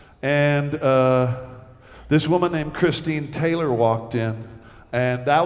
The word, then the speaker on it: Christine: is is pretty true her name Christine rhymes with queen and gasoline and that's her up